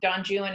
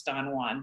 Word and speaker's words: Don Juan: of books right madame bovary um you know don june is the example that and yes it's pronounced jew and i know you know anyone with half a brain knows it's don juan but the pronunciation of it is actually don